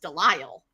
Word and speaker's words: Delisle: The way I pronounce it is Delisle, right?